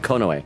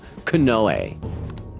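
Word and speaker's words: Konoe: I think I'm saying Kono. Kenoe. Kenoe. I'll try things like a canoe. Kenoe.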